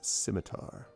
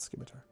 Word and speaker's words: scimitar: Yes, the C is silent. I was joking with scimitar. Yes, it is pronounced scimitar, not scimitar.